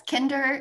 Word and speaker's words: Kinder: Yeah, it's kinder, like kindergarten. Kinder.